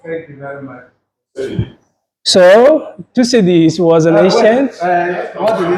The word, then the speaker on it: Thucydides: Please help me with that pronunciation again. Thucydides. Thucydides.